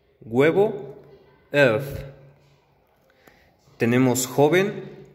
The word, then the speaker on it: œuf: Ok, entonces aquí estamos en la pronunciación de E. Y tenemos corazón, que es cœur. Huevo, œuf.